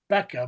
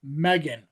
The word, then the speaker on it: M3GAN: model numbering used for Megan, which has the 3. No, it's not Becca, but Megan. Megan.